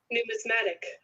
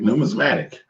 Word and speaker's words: numismatic: Numismatic. You was right. Numismatic.